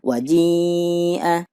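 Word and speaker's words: وَجِيءَ: Pelajarannya adalah di atasnya alif ada buletan yang bulat banget, menandakan bahwa alifnya dianggap tidak ada. Jadi cara membacanya adalah waji'a.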